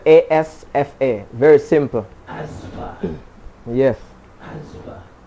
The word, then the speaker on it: Asfa: Asfa is the name, it's spelled A-S-F-A.